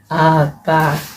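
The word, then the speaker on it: àgbà: So what about the second vowel? What should it have? What kind of tone should it have? Agba. It's higher. I know that. Do. If you hum it to yourself, it's do.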